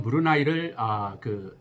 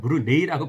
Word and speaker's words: Brunei: 영어로는 BRUNEI라고 쓰잖아요. 예. 근데 이게 스펠링은 이거지만 발음을 조심하셔야 돼요. 읽는 거는 제가 지금 하듯이 브루나이입니다. 그래서 이런 브루나이를 발음을 하실 적에는 브루네이라고 발음을 하시면 안 되고요. 브루나이라고 하는 것을 정확히 알고 말씀을 해주시면 좋을 것 같아요.